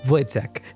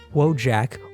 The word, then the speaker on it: Wojtek: Wojtek, yes, it is pronounced Wojtek and not Wojak or Wojak.